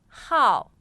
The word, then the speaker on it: 号: the fourth tone 号 Number.